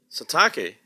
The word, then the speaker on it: Satake: You see, Satake rhymes with sake.